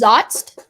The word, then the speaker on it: zotz: it's really cool the board game's name is zotzt um in the 1920s that's meant to kill